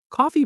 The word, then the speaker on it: coffee: Coffee pronunciation. This trips up many learners. It's coffee, not coffee. The stress is on the first syllable and that first syllable sounds like cough.